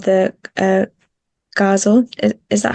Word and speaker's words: ghazal: I hadn't discovered it before, but um it's called the ghazal.